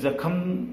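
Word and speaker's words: ज़ख़्म: तो जख्म के सही उच्चारण जख्म है, जख्म उच्चारित करे रहती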